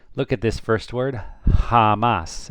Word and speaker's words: jamás: J in Spain is always pronounced like the H in English.